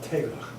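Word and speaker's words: teiglach: It's Tegla? It's called teglach. Tegla. Do you know how to spell it?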